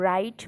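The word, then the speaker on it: write: परवानगी देणे ठीक आहे टू राईट रोट return रायटिंग या ठिकाणी डब्ल्यू सायलेंट आहे या क्रियापदामध्ये याचा अर्थ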